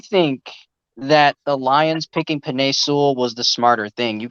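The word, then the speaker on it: Penei Sewell: How do you pronounce his name? Panay Sewell.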